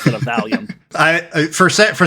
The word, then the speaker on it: Valium: him to give Tis some uh as he pronounced it, Veium.